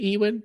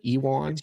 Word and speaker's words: Ewan: Uh, I I mean, I am a big fan of Ewan McGre is it Ewen? Ewan Ewan. Ewan. Oh, wow. Oh, I've been pronouncing that wrong for 30 years.